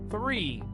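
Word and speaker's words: three: To say 3, you need to emphasize the th sound. Repeat after me. 3.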